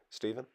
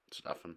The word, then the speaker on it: Stefan: Stephen? Stefan. It is Stefan. I mean, it's spelled Stefan, but of course, like you said,